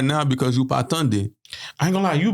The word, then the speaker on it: tande: All right, so Creole word of the day, ladies and gentlemen, is Tunde. There's so much significance behind this word. Spell that out to him.